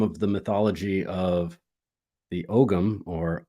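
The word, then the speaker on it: ogham: look into some of the mythology of the ogum or om um as it's pronounced um it is said that agma the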